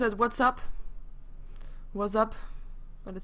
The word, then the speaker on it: VACAP: yeah we're gonna have a game between a V cap which is apparently pronounced as what's up what's up but it says V cap so we are gonna have a cap vs.